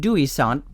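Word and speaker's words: Dewi Sant: In Wales, pronounced Dewy Sant, Saint David was the king of Ceredigion, one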